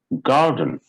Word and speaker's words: garden: for example it's garden garden we don't say garden we say garden we don't say garden it is gar and dun and this is not dane this is done because it gets reduced so sun will come